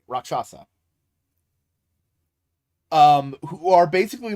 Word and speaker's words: rakshasa: Hindu demon called a rock a rock shasa rakshasa I hope I'm pronouncing that right roxasa um who are basically like demons they eat